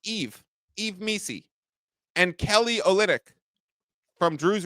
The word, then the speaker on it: Yves Missi: But if you look at that injury report and you see the questionables, Zion, Yves Missi, spelled Y-V-E-S, pronounced Yves Missi, and Kelly Olynyk from Drew's Raptors to the New Orleans Pelicans.